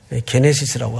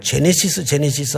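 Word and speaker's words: γένεσις: 게네시스라고 합니다. 또 어떤 분은 발음을 제네시스 하는데 뭐 그래도 그렇게 틀린 발음은 아닌데 뭐 자동차 이름 같아가지고 원래 그냥 게네시스로 우리가 읽습니다.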